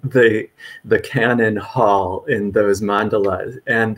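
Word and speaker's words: Kannon: well and so um canon in Japanese I some PE some English speakers are more familiar with the the Chinese pronunciation guanin um but this is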